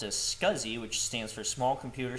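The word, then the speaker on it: SCSI: to be LS scuzzy so LS s CSI pronounced as scuzzy which stands for small computer system interface list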